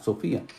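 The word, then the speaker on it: σοφία: socia así como se escucha s o efe sofía que significa sabiduría y esto sería significa él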